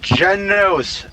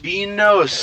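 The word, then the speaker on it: Genos: that a good transition it's jenos not binos yeah even I have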